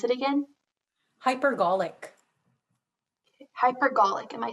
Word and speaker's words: hypergolic: latent explosion triggers including batteries fuel cells and hypergolic fuels and what is the uh can you please pronounce it again hypergolic hypergolic am i saying it correctly yes h